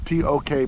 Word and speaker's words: Tok: This is Tok, Alaska. T-O-K, pronounced Tok.